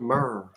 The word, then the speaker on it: myrrh: I burnt myrrh. I'm glad it's pronounced myrrh because that's what I've been saying Yeah.